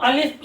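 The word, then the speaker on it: الف: ये जो अलिफ है इसको वैसे हम अलिफ यहां पर प्रोनाउंस करते हैं और जब मैंने आपको बताया कि इसके ऊपर हम ये मद का निशान लगा देते तो ये आ की जो है आवाज देता है अगर हमें सिर्फ अ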